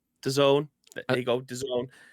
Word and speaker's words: DAZN: i know it does uh how do you pronounce it dazn dazen dazon the zone there you go like is are they the